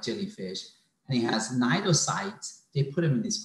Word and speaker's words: cnidocyte: jellyfish, and it has cnidocytes, they put them in this phylum. So the main criteria of being a member of this phylum is having cnidocytes. C is silent, okay?